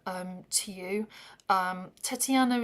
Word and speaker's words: Tetiana: to present this song Tatiana um to you. Um, Tetiana is the way you say it in in Ukrainian. It's with an E.